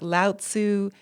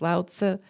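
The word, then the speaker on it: Laozi: means seed and like laotsu juanza it's all it's it's actually pronounced loud so and juanza they they added that little zi because yeah go home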